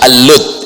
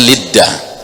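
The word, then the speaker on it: Lod: lagi akan sampai ke kota lot dalam bahasa Inggris ini kalau dalam bahasa Arab dibacanya alud ya dalam bahasa Ibrani dibacanya lidda ya Dan ini pintu masuk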